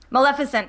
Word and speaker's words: Maleficent: Maleficent? Maleficent. Maleficent. I always mispronounce Maleficent's name.